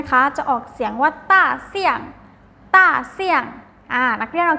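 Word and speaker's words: 大象: ภาษา จีน นะ คะ จะ ออก เสียง ว่า ต้าร์ เสียง ต้า เสี้ยง อ้า รัก เรา แจ้ง ตาม เรา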